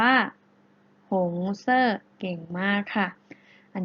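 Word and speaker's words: 红色: นะ คะ หงส์ เสื้อ แปล ว่า มี สี แดง สี แดง ได้ ภาษา จีน แล้ว จะ ออก เสียง ว่า หง เซ่อ เก่ง มาก ค่ะ อัน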